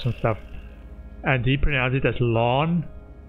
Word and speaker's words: Lan: with more cars and stuff and deep analysis lon like I would almost say l a h n lon instead of lamb and I was like okay